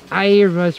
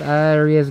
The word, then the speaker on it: Aira: underneath, we're here at Aira's refreshment, not Aria's garden. How do you say it? Aira. Aira? Yeah. Aira. And not only that, it's Aira's little garden. Oi. Aria. Sorry, I thought it was Aria.